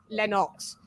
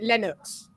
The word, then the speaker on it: Lennox: with the british accent we don't pronounce it lenox we pronounce it linux so yeah it's weird we're weird like that